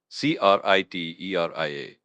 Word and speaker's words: criteria: C R I T E R I A pronounced criteria with the accent on the second syllable.